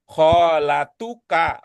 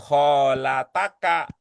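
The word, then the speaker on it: خالتُكَ: Ini juga terakhir tadi Bu Yayah sudah membaca kholatuka bukan kholataka bukan jadinya dibaca tu karena di sini indikasi dia sebagai subjek sebagai fail dari yataalamu itu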